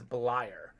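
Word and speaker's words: Bleier: of these names rocky blyer is one of them and i had it written out phonetically but i must have forgotten and said blair it looks like blair but it's blyer ah a couple other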